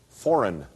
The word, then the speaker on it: foreign: your first word is foreign foreign f.o.r e I n fo re IG and there's a silent G in foreign Valerie not to worry